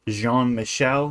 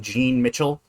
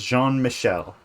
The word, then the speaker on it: Jean-Michel: It's Jean-Michel, not Jean Mitchell. Uh, I've heard people mispronounce it, and that's not his name. His name is Jean-Michel.